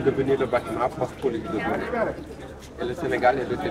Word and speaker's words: Gorée: Jean de Trek, avait le problème de prononcer le nom hollandais Good Red. Il a changé le nom séparé en deux syllabes. Sur le Good, il a pris le G et le O. Le Red, il a pris le R et le E. Il a rassemblé, qui est devenu Gorée.